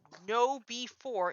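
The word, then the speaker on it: KnowBe4: And here's the interesting thing: there is a company called No B4. It's spelled KNOWBE and the number 4.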